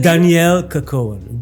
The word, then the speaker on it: Dannielle Kerkoven: Danielle Kakon Danielle. It's a French name actually.